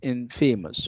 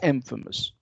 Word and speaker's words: infamous: And of course, Well, from fame you have famous, and you have the word infamous, and it's not infamous. Okay, the stress falls on the first syllable. That's why it's infamous.